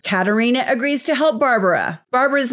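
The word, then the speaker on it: Barbora: agrees to help Barbara Barbara's name is spelled b a r b o r a which is why I'm saying Barbara Katarina convinces her sister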